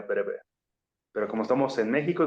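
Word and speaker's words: Breuer: el Alemán es que se escribe con u no con w pero comúnmente se pronunciaría breve Pero como estamos en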